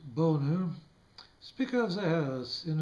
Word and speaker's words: Boehner: John Boehner, pronounced Boner, Speaker of the House, in referring to the President's response to the Iraq crisis, said, quote, "Where was he?